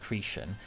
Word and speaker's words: Cretan: Yes, it's apparently pronounced Cretan, and I did not bother to read that one bit because I don't give a shit.